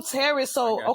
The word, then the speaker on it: Tarris: So my name is pronounced like TARRIS, right?